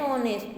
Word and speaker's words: honest: Arun is an honest man. H is silent in honest.